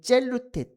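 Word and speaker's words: ζηλοῦτε: 이것은 젤루테 데타 푸뉴마티카라고 읽힙니다.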